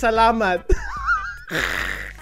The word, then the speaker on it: salamat: in Tagalog single oh my God you pronounce it properly dog is that fine that what is okay okay it's salamat foreign you don't want to know it